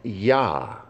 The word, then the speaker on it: Yah: The construct of these four letters is one that is common in modern Hebrew, where the Yod is pronounced with the vowel Ah, creating Yah.